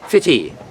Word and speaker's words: Footdee: is the fishing village of Footdee, or it's pronounced Fitty, the second most popular tourist attraction in Aberdeen.